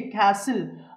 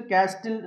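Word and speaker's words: castle: HUSTLE హస్సిల్, BUSTLE బస్సిల్, CSTLE క్యాసిల్, RUSTLE రస్సిల్. అంతేగాని ఇలా చదవకూడదు, హస్టిల్, బస్టిల్, క్యాస్టిల్, రస్టిల్ కాదండి, హస్సిల్, బస్సిల్, క్యాసిల్, రస్సిల్. రూల్ ఏంటండి, whenever you find STLE or STL, the T must be silent letter, right?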